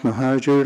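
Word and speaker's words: Mohajer: have one other card and that's from moer good morning Mr chair and member of the commissions my name is mahajer last name is spelled m o h a j I have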